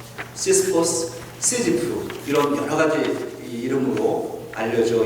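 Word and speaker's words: Sisyphe: 근데 20세기의 철학자인 알베르 까미가 그래서 이 시스퍼스를 생각하고 이 시지프 신화를 썼습니다. The Myth of Sisyphus. 네, 프랑스 분이니까 시지프라고 발음하고 시지프 신화.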